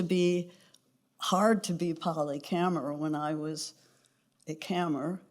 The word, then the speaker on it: Kammer: It used to be hard to be Polly Kammer when I was a Kammer, because nobody would ever say it correctly. You know, it was Kramer, Kramer, Cameron. It could be almost anything but Kammer.